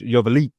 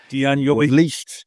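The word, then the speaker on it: Joveljić: You got to put a little zhuzh on it, if you will. A little zhuzh, Joveljic. Dejan Joveljic.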